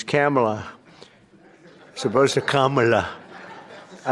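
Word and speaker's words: Kamla: It's Cam right? Cam as opposed to Com.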